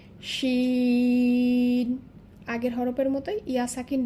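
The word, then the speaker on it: شين: এর পরবর্তী হরফ হচ্ছে, প্রথমে নাম জানব শিন, ইংলিশ লেটার এস এইচ শিন।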